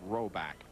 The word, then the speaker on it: Rohrback: And although uh it isn't spelled the way it's pronounced, the R is silent, so it is pronounced Roback.